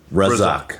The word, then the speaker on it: Razzaque: Forhad, how do you pronounce the last name? Razzaque.